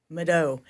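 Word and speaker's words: Mvto: Mau. So, it's pronounced kind of like a U.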